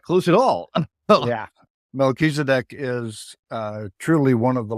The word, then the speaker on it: Melchizedek: It's Melchizedek. Oh, I was not close at all. Yeah. Melchizedek is truly one of the lords of light in this universe.